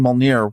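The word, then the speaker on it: Mjölnir: Okay, and I keep saying Mjolnir. What is the right pronunciation? Mjolnir.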